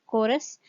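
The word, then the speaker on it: chorus: जैसे जो पहला वर्ड है वो CH के साथ स्टार्ट हो रहा है और ये वर्ड है कोरस।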